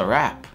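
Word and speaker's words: wrap: Это просто rap.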